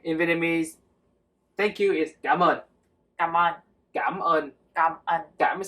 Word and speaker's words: cảm ơn: Okay, in Vietnamese, thank you is cảm ơn. Cảm ơn. Cảm ơn. Cảm ơn. Cảm is like with the question mark on top, like cảm and then Cảm.